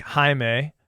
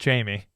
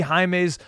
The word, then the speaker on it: Jaime: But, yeah, and it's even more difficult when you see a guy like Jaime, who you thought is pronounced Jamie.